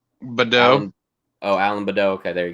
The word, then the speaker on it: Baudot: Knew a little bit about them, but Alan Baudot, is that how you say it, Ben? Badeau.